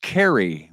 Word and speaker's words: Caray: cards uh we know chip Carey pronounced Carrie will be the new